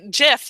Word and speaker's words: GIF: I say GIF like the peanut butter.